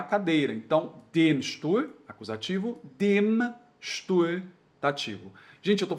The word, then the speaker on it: dem: Então a gente fala den e den, só que no alemão não pode. É den e dem, ok?